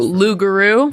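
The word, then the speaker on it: loup-garou: You used to pronounce this. Oh, Lugaroo.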